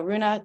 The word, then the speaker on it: Rune: So Rune, take it away. Michelle, thank you so much. My name is Rune.